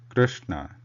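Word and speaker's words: कृष्ण: The word Krishna, Krishna, we are trying to pronounce the swara r, not the Vyanjanam ru. not Krishna. Krishna. It will be Krishna.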